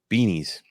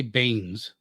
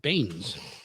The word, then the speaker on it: Beanes: Willem Beanies. Wait, where are you? That's not right. right there. Dr. William, I would say Baines. No, Beanes. The E is silent. Baines.